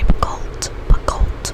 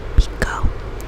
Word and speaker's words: Picoult: And I would say it's either Jodi Picoult. I've learned how to pronounce her name this year. Thought it was Jodi Picoult for the longest time, but it is Jodi Picoult.